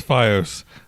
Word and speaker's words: FiOS: offer anything over by you say it like that again and I'm going to slap you fos it's FiOS and no FiOS no